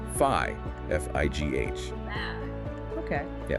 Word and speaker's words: Phi: Looks like the Greek letter Phi, but the meaning, the pronunciation, totally different.